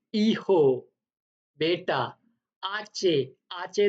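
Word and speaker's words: hijo: आचे जो होता है वो हमेशा साइलेंट रहता है स्पेनिश में, तो उसको प्रोनाउंस ऐसे करना है आचे। आचे दे ओला। आपने देखा होगा ये एच लिखा हुआ है, मैंने इसीलिए रेड किया है कि ये प्रोनाउंस नहीं होगा।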